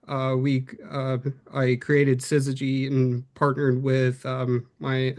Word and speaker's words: Syzygy: So, Sizzy is the correct pronunciation, right?